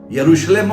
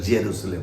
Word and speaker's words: यरूशलेम: तो वो जा है इंग्लिश में य को ज बोलते हैं हमेशा तो वो जा हो जाता है यरूशलेम हम बोलेंगे आप इंग्लिश में बोलेंगे तो जेरुशलेम बोलेंगे तो वो इस तरह से उच्चारण है तो प्रेज जा